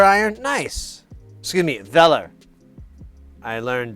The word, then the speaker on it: Weller: oh you've got a weller iron nice excuse me velar i learned they are a german company and they are pronounced vela which is pretty cool